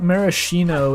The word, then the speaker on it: maraschino: I think maraschino is a common, like, bastardized American pronunciation, but they've turned the